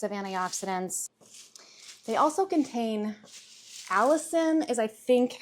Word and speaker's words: allicin: They also contain allicin, is I think how you pronounce it, A-L-L-I-C-I-N, a compound that has antimicrobial